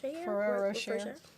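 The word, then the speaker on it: Ferrero Rocher: Ferraro Rocher.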